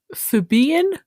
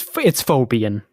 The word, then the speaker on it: Phobian: The demonym for Phobos is Phoebian? Well, it's Phobian. Phobian. It can be Phobian.